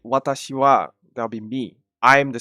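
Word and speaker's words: は: I know it looks like a ha. It's pronounced wa, and I'll come to that later.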